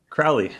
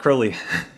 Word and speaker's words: Crowley: So I'm here today with Mike Crowley, not Crowley. Thank you for being on the podcast. You're quite welcome. And you were just saying that Alistair, was it Crowley is the English pronunciation?